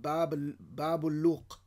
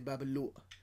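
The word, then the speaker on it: Bab al-Louq: It's located in a place called Babuluq. But nobody pronounces it like that. In Egypt, they say Babuluq.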